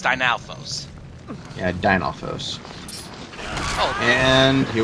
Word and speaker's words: Dinalfos: finally pronouncing it right I kept calling it dinoflos no it's that it's it's dynalfos yeah dinosaurs oh and